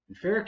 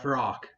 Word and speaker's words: Ferak: United faric and that name sure is something fic is apparently the correct pronun a because Bob